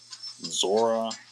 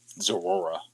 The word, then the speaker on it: Zoroark: Zora Zoroark Zoroark I keep wanting to call him Zora.